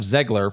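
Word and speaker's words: Zegler: Speaking of Zgler, from an acting standpoint, she and Galadot are absolutely terrible in this movie.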